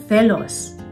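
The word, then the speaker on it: celos: The Ang isang dapat tandaan pagdating sa letter C, madalas ito ay pino-pronounce na soft th. Parang think sa English.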